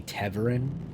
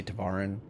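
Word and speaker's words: Tevarin: perfect at it like I think it's you're supposed to say teverin but I always say tavaran and then I still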